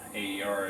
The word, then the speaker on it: AER: AER is air, that's how they say it.